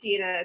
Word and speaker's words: Dina: you can call me whatever but it is dina technically great i'm the same way people um